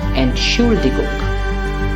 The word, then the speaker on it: Entschuldigung: All of you know that the pronunciation is Entschuldigung, correct? Ent is a prefix that's not separable, that's why we don't stress it, and the stress goes on should.